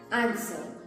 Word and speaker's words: answer: s w e r remember that the w is not pronounced the correct pronunciation is answer for example he gave